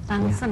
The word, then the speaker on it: Danshen: Tansen, oh dibacanya tansen. Ya, sebenarnya tulisannya tansen, tapi ditulisnya dansen. Tapi kalau di Indonesia bilang dansen oke lah.